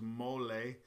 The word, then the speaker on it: mole: lives in the ground there's actually a different pronunciation for mole which is mole uh which is a a Mexican sauce made